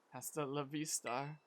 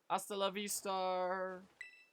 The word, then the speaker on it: hasta la vista: if you'll excuse me hasta la vista or Hasta la Vistar if we're gonna you know go by pronunciation rules for Spanish you don't pronounce the h um that gentleman guy